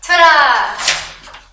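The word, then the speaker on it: תודה: Todah.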